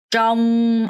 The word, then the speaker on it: trong: trong r 발음해서 trong 뭐뭐 동안에 어디 안에 뭐뭐 동안에라는 표현이에요.